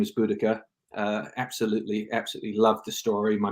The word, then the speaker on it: Boudica: I left high school, it was changed to Boudica, which is the Celtic pronunciation, as it was felt that the Roman pronunciation was wrong.